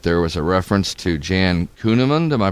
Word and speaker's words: Jan Kuehnemund: Well, what I thought was the most moving deal is when I started noticing that there was a reference to Jan Kuehnemund. Am I pronouncing that right?